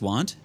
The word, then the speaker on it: wont: It's written won't and pronounced want? Oh, okay. Well, I've always said, yeah, as I am wont to do, but I didn't realize it was written won't.